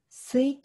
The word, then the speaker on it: 水筒: 置くとこれ水筒と読むんですけど水筒知ってますか ?